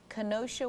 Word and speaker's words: Kenosha: We have Scott from Kenosha, Wisconsin. Did I pronounce that right, Scott?